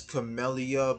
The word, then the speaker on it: Camellya: I call her Camella. I know her real name is Camellya, but again, it's like replace the Y.